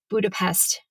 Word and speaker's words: Budapest: Budapest, tomato. In Hungarian, the S is pronounced like a psht.